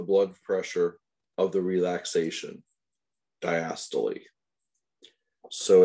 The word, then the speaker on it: diastole: The contraction part is called systole. And it is pronounced systole. And the relaxation part diastole, which is pronounced diastole. So you'll hear people say systole and diastole all day long.